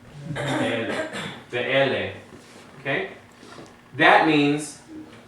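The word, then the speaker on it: אלה: But in this case, the E would be the medium length E, which is the three dots in a downward triangle, and that is the sagol. Sagol. Okay? So this is Ele. Ele. Ele.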